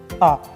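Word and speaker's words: τ: Ini bacanya to.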